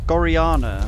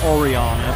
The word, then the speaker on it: Goriana: They're Goriana. Or rather, Oriana, but it's pronounced Gori- but it's spelt Goriana, but it's pronounced Oriana. Oh yeah, the one they forgot to translate.